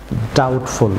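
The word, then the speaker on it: doubtful: যেমন ডাউটফুল, viewers এখানে be silent থাকবে, ডাউটফুল। আসলে বলুন ডাউটফুল, ডাউটফুল।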